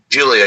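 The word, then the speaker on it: Giulia: I don't even know how to pronounce her name. Is it Julia? Julia, yep.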